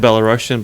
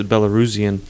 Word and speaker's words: Belarusian: So I say I'm Belarusian, but I guess the proper way to say it is Belarusian.